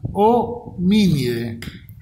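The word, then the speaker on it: Hominidae: Y dentro de este grupo o familia homínido, recuerden que el sufijo idae se pronuncia ide, entonces acá se pronunciaría homínide, esto sería homínide, o vulgarmente conocido como homínidos, también no está mal dicho.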